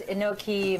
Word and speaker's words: enoki: the cauliflower soup tell me again how to pronounce these mushrooms Enochian okay I believe you so why do you choose enoki mushrooms versus any other kinds um I take